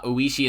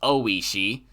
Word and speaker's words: Oishi: first things first uh i was told that uh ueshi is actually pronounced oishi so got it uh